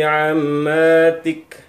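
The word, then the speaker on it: عماتك: Wa banati ammatik. Masih ingat ya cara bacanya ya? Ammatik, huruf yang terakhir disukunkan.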